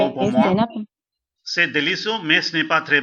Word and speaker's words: délicieux: No, not that much rounding. Not that much flat. And not making a sound of N.